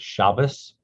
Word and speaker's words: Shabbat: number two kaabah lot shabbat that's sabbath sometimes ashkenazim pronounces the word shabbos line seven nine seven